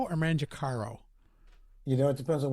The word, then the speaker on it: Mangicaro: Mangicaro or Mangicaro? You know, it depends on what part of my family you ask. Ha! I like that. Growing up, it was Mangicaro, but in Italy, it's pronounced Mangicaro.